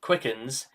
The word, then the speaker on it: Quickans: Just Quickans, pronounced Quickens, and practicing Quickenism Okay, let's continue where we left off.